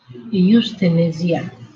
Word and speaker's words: euthanasia: Generally वे हम focus करेंगे primarily on the dramatic issues of, okay let मी सी इसको हम प्रोनाउंस कैसे करते हैं। यूथेनेसिया, okay. Euthanasia.